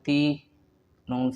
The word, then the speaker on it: تین: بعد ذلك دو دو دو، تین تین تین، وهذا نطقه تی یا زیر تی نون ساکن تین.